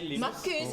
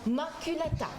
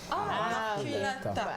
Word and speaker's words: maculata: Marcus, j'ai jamais dit ça. Tu as dit quoi? Maculata. Maculata. C'est là qu'il faut prononcer ça comme ça.